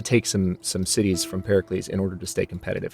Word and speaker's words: Pericles: because hih Tusa is Pericles Pericles I'm using I'm using that Greek pronunciation from Assassin's Creed obviously Pericles is a city-state so